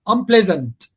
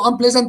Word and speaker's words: unpleasant: Because the stress the stressed syllable here is the second one. Pleasant. Unpleasant.